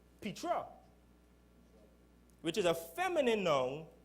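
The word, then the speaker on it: πέτρα: word for rock in that same verse is pronounced Petra which is a feminine noun denoting a large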